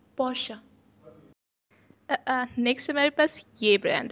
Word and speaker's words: Porsche: Porsche or Porsche, it's wrong. It's called Porsche. Porsche. E turns into A. Porsche.